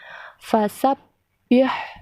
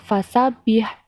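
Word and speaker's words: فسبّح: Contohnya, fasabbih, jadi ditekan, bukan dibaca fasabih, tapi fasabbih. Begitu juga pada lafaz robbika, bukan dibaca robika, tetapi dibaca robbika.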